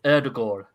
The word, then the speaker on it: Ødegaard: Now, how you say it is Erdegård, yeah, because I have some Norwegian friends and family that live in Drummond.